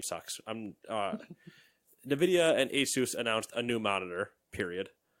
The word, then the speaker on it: ASUS: HS are a soos I never remember I go with Asus Asus I think I looked it up one time and that's like how they pronounced hey Zeus I just I'm gonna